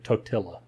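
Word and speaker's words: Totila: no that's exactly it it sounds like a white person saying tortilla anyways that a dumb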